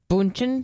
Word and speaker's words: Bündchen: Bündchen.